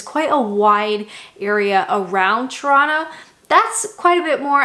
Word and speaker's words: Toronto: it truly is so toronto's population i'm from ontario toronto that's the proper way to say it by the way toronto's